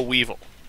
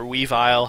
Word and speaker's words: Weavile: anyway and we have a weevil or weavile however you want pronounce it Weavile i believe is